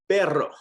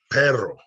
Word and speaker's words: perro: repete pero pero pera you're gonna roll it if it's a double r perro perro perra pera caro so